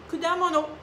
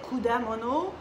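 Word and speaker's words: 果物: Vous pouvez prononcer aussi le ku. Il y en a, dans certaines régions, on dit kudamono, kudamono, kudamono. Mais ici, on dit kudamono, mais ku aussi, c'est pas vraiment une erreur parce que, bon, ils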